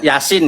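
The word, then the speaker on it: يس: Anu Yasin ya, Yasin ya. Silakan Gus Edi simak baik-baik ya. Silakan. Yasa tulisannya Yasa tapi bacanya Yasin. Yasin gitu kan.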